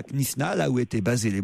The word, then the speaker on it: Knysna: J'ai jamais su vraiment prononcer le nom de l'endroit où ils étaient. Knysna, Jérôme, on doit dire. Knysna.